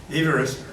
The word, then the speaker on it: Everest: But the pronunciation of his name is actually Everest.